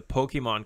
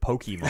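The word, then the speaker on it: Pokémon: Back when the Pokemon card game first came out, I could not. I can tell you hate it because you pronounce it Pokemon.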